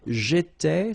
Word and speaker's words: j'étais: J'étais, so final S not pronounced.